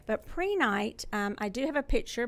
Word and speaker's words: prehnite: I'm introducing to you today a crystal called prehnite it is spelled p r e h ni te sometimes